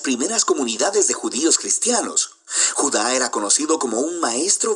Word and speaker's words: Judá: carta de Judas o más precisamente Judá de acuerdo con la pronunciación de su nombre tanto en griego como en hebreo Judá Era uno de los